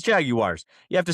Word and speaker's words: Jaguars: If you say Jaguars, you're Jaguars. It's Jaguars. You have to say you have to pronounce the U.